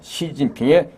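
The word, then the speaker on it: 习近平: 아 시진핑 우리가 아 중국 발음으로 정확하게 성조를 하면요 아 시진 핑 2성 4성 2성 이런 식으로 발음해야 되는데요 하도 이제 말 하다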